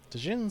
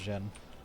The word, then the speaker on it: Djinn: Djinn Slayer. Though I think it's just pronounced Jin.